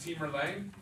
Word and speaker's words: Timur Lang: He's pronounced Timur Lang.